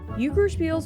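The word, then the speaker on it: Juckerspiel: with a French twist yuker spiel's pronunciation sounds a lot like uker since the German J sounds like an American why this is what points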